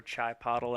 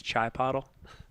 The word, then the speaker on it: Chipotle: Seeing some love for Chai Pottle out there. Gotta love Chai Pottle. Oh, Chipotle. I believe it's Chai Pottle. My mother-in-law calls it Chipotle.